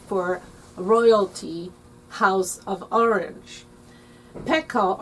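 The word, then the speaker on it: pekoe: royalty house of orange pekka or pico as some pronounce means hair it's the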